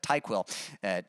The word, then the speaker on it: TyQuil: So, I keep wanting to say NyQuil, since you said it rhymes with that, but TyQuil.